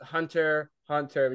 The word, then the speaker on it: Hunter x Hunter: an X there it's Hunter Hunter you just don't pronounce the X why is it there